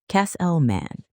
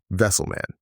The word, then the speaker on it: Kesselman: Kesselman, like Wesselman but with a K. Got it. Wesselman.